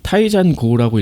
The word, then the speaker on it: Taizan5: 있습니다 작가 이름이 특이하네요 작가는 타이잔 고라고 읽어야 될 거 같아 아이겠죠 거기에 있는 나오는